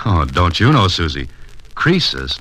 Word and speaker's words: Croesus: He's a regular Crisis. A what? Don't you know, Mr. Holliday? Crisis was a rich king. Oh, don't you know, Susie? Croesus, not Crisis, was a rich king.